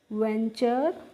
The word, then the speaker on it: venture: VENTURE, तो देखो VEN को हमने पढ़ा वैन, और TURE को पढ़ लिया बच्चों चर, तो VENTURE को हमने पढ़ा है वेंचर।